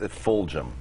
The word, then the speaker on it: Fulgham: It's Fulgham. Okay. Yes. Pronounced almost like Belgium.